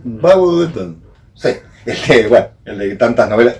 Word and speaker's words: Bulwer Lytton: Y de Bulwer Lytton, ¿cómo se pronuncia? Bulwer Lytton. ¿Cómo es pronunciado? Bulwer Lytton.